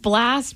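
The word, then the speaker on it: Blxst: just thought it was blast blast blast I I I I was like blast Danny would be correct blast it's just blast but instead of an a there's an X he's hardcore edgy yeah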